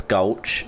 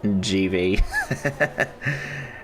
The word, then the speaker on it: Gulch: It's Gulch, not GV.